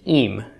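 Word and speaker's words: ים: For masculine nouns, the plural suffix is a chirik vowel, followed by a yod, followed by a final mem, okay, pronounced im. Okay.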